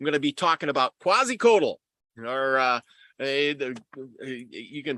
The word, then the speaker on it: Quetzalcoatl: I'm going to be talking about Quetzalcoatl, or you can pronounce it a bunch of different ways, but Quetzalcoatl was, quasi.